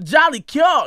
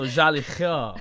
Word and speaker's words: Jolicoeur: Okay, I knew no matter how I said it, I was like, I didn't hit it with that French on it. You know what I'm saying? You gotta pronounce that. Ah, so Jolicoeur.